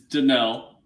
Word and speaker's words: Danielle: okay so zaa says Danielle Hunter it's denell whatever spelled like a eye in the middle of his name so okay so Hunter um